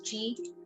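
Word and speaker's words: ち: Now you have to actually take care that it's not ti, it's chi, and this one not su, not tu, but su. So this is what I mean. It's tsu, su.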